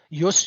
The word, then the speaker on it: ius: right usus justification again no J in classical Latin IUS but we would spell it J us J Yus Urus Yus means a